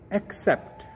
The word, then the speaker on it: accept: So remember, for the first word, we say accept. Emphasis is on A, accept.